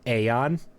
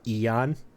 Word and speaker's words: Aeon: I could figure out how they said it was Aeon or Eon Oh. because it can be pronounced both ways.